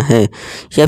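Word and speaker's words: high: हमने क्या देना है सेम आई ही देना है या फिर आप यू भी कह सकते हैं ये जी हमारा साइलेंट रहेंगे ठीक है दोस्तों जैसे देखिए इसे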